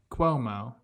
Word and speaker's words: Cuomo: You kind of offended my heritage with the way you pronounce that, to be completely honest with you. How do I say it? Cuomo. Yeah. Quo.